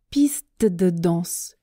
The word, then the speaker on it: piste de danse: Quand je parle vite, la difficulté est l'enchaînement des sons t, d. Piste de danse, piste de danse, st danse, st danse. Ça, c'est vraiment pas facile.